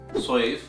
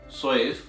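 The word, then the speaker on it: صيف: You see this word, which is pronounced as safe, safe, which means sword in Arabic, and the second word that is pronounced as soif, soif, which means summer in Arabic.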